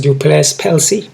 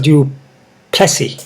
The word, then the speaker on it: Du Plessis: foreign guys we got Diamond two versus drocos duplex pelsi sorry guys Jacques do Plessy all right to him my bad man um